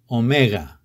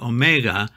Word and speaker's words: omega: Omicron and omega are not pronounced like o, like the o in the word go, but they are pronounced o.